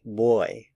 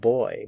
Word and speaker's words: voy: might hear some Spanish speakers say boy boy boy it sounds a lot like the English word boy b y it's a